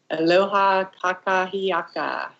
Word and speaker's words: Aloha kakahiaka: So how do you say that again? Aloha kakahiaka. It's all one word.